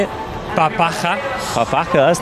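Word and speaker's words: papakha: It's called a papacha. Papacha. Yeah? Have a go at trying to pronounce it. Sound okay. Papacha. Papacha. Pretty good.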